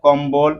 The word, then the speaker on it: কম্বল: সাথে বফলা কি হয় যুক্ত হয় তখন বফলার উচ্চারণ কি থাকে বহাল থাকে যেমন হচ্ছে উদ্বেল কম্বল উদবেলের সাথে ব উচ্চারিত হচ্ছে এবং কম বলের